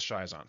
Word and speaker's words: schizont: This word schizont may also be pronounced schizont or schizont, depending on the person speaking. We'll go with schizont for now.